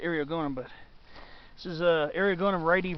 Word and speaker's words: Eriogonum: Some people pronounce it Eriogonum. I always pronounce it Eriogonum, but this is Eriogonum Wrighti variety subscaposum.